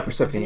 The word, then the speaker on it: Persephone: Persephone is that's how you say it, right? Yeah, Persephone, yeah.